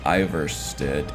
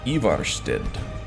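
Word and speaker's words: Ivarstead: together um cities Villages Iver stood ever stood I think it's how the Nords would pronounce it IRL anyway what's this a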